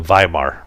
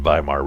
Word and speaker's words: Weimar: W in German language the W's are pronounced with a V so it'd be the German biomart Republic and provide the